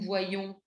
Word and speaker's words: voyons: La particularité de voir, c'est qu'il a le Y pour le nous et le vous qui se lit y comme une semi-consonne. Nous voyons, vous voyez.